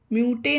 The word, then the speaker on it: mute: इसे म्यूटे नहीं पढ़ेंगे, ये पढ़ना गलत होगा, इसे म्यूट। यही अभी हमने यू वाले उच्चारण में सीखा कि जब पहले वर्ड यू हो और लास्ट में ई हो तो ई का उसमें साउंड नहीं होता, ध्वनि नहीं होती, तो इसमें ई साइलेंट रहता है, तो इसे म्यूट पढ़ेंगे।